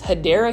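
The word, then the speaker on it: Hedera: and then obviously this hedra Helix this one is for $5.98 and you already know this hadera Helix which is the correct way to say it or English ivy it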